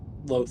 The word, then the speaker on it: Lolth: It's Lolth. How do you say her name? Loth. Loth.